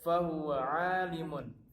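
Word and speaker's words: فهو عليم: Nah, di sini ada fahuwa alimun. Maka mun ini tidak boleh dibaca mun, tapi disukunkan. Fahuwa alim.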